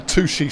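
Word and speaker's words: touché: It's spelt touch with an E on the end. It's French. Touche. Yeah? Right? And it means touch, and it's from fencing, where one would touch blades with rapier after a point is scored to go, well done, sir. Touche. There's an accent on the E as well.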